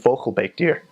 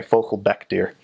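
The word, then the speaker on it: vogelbekdier: platypus in Dutch isn't vocal bake deer I mispronounced oh sorry focal BEC deer Baek and Baek are different vocal BEC deer translates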